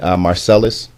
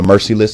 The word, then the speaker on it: Mercilus: with Philadelphia and uh wion marcelis or mercilus I believe you pronounce it uh he's not